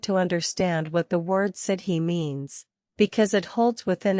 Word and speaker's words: sidhe: It is important to understand what the word sidhe means, because it holds within itself the entire cosmology that makes the banshee possible. The sidhe, pronounced shee, were the fairy mounds of Ireland.